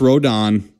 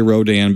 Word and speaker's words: Rodan: Now I know it's pronounced Rodan. I don't care for the rest of the review or whatever. We're going to say Rodan because that's just how it's going to be.